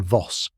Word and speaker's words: Voss: Pronunciation Voss like boss with a V for a scorned lover's revenge.